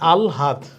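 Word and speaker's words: আহ্লাদ: এই আলহাদ, এটার উচ্চারণ কি হবে, এটার উচ্চারণ হবে আগে ল পরে হা, তাহলে আলহাদ 3 নাম্বার।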